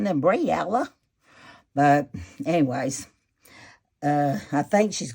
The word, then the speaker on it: Breillah: Her name's Breillah.